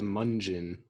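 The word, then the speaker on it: Mungion: really good it's spelled munjin by the way that's correct like Funyun yeah I was pronouncing it wrong for a longest time and someone corrected me Oh have you heard this band munjin into selling and oh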